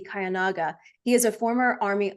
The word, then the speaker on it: Kiyonaga: Just a point of clarity, the name is pronounced Kiyonaga, which actually means everlastingly pure in Japanese.